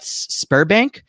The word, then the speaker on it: Sberbank: thing called, again, I don't know if I'm pronouncing this right, so I'm sorry to any of my Russian friends, but Sberbank.